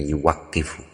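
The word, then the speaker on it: يُوَقِّفُ: Tetapi berdasarkan kosakata yang sudah pernah dipakai yaitu taukif, maka bacanya yang paling tepat mungkin yang mendekati tepat insyaallah itu bacanya yuwaqifu. Waqofa yuwaqifu taukifan bukan auqofa yukifu iqofan.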